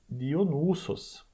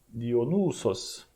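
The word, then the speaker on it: Διόνυσος: Ele tem um U longo ali, percebe? Então, Dionysos. Dionysos.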